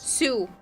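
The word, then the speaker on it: Sioux: And when you think of South Dakota, you think of North Dakota. That's Dakota. Well, the what? Sou Falls. in South Dakota. Two Falls Sue. Okay. It's spelled funny.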